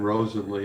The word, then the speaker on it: Rosenly: and uh no problem on the pronunciation rosenly is how it is pronounced thank you very much